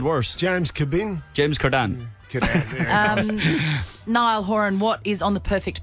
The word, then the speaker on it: Niall Horan: yards yeah very much what's the worst pronunciation of your name that you've heard Jesus Neil Neil Duran that's pretty bad Niall Horan okay we say it well yeah